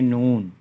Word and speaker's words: نون: ہے اردو میں میم۔ اور نون کے لیے نون، واو اور نون، یہ تلفظ بنتا ہے اردو میں نون۔ واو کے لیے واو،